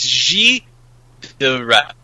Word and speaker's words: Gilles de Rais: is the stories about Gilles de Rais, or Rays or something. I always mispronounce it. I looked it up. It's Gilles de Rais, like that, something like that.